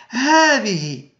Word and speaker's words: هذه: فمثلا هذا، نقول اسمعوا جيدا، هذا، هذه، هذان، هؤلاء. فنسمع ألفا بعد الهاء، إذن تنطق الهاء بالمد هاء ولا تكتب الألف.